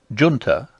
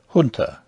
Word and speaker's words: junta: have chosen to use the pronunciation junta rather than the more correct hunter on the grounds that an aristocratic young englishman of the edwardian era would not stoop to use other than an anglicized pronunciation all other unusual pronunciations